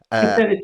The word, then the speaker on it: Kucinich: How do I pronounce that? Kucinich, maybe. Kucinich, yes.